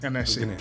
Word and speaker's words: Alqanaisa: How do I pronounce the second name? That's correct. Alqanaisa.